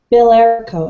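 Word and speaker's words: Bilerico: Billerico.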